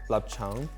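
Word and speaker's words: 臘腸: So in Cantonese, it's pronounced lapchang.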